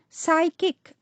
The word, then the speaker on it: psychic: the next word which is pronounced as psychic p s y c h i c this word is pronounced